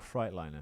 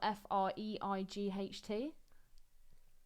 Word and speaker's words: Freightliner: Does it really say Freightliner or Freightliner? It says Freightliner, Okay. but Fright spelled F-R-E-I-G-H-T.